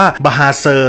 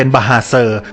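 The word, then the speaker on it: bahasa: เป็น ภาษา คาราโอเกะ ไป เลย อย่าง คำ ว่า บาเซอ ที่ แปล ว่า ภาษา ใน ภาษา มลายู เนี่ย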